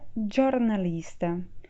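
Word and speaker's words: giornalista: jornalista que em italiano se escreve e se pronuncia jornalista como vocês podem ver a gente troca o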